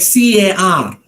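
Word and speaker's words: car: in a word like c-a-r ca the r is silent because it comes at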